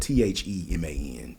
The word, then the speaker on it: Theman: His name is spelled Theman, Theman. But he called himself the man, Dr. The Man Taylor.